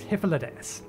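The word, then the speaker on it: Hythlodaeus: remember the pronunciation because i still want to pronounce the first bit high no it's hyphalades hippolytus is looking you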